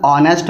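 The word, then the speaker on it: honest: फिर सेकंड है ही इज़ एन ऑनेस्ट मैन।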